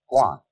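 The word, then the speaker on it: 觀: that means seeing and the whole character is pronounced Guan and it means a certain kind of observation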